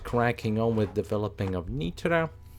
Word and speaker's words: Nitra: Or Nitra, more rather, Nitra. But I suppose in Hungarian it's going to be spelled or pronounced a little bit differently, so it's, well, it's Nitra in Slovak, isn't it?